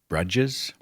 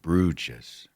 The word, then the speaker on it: Bruges: to London, Paris, Bruges, Amsterdam, and I'd always pronounced it Bruges. Stupid mistake. It's the kind of mistake that readers make. So thank you for the correction. Bruges.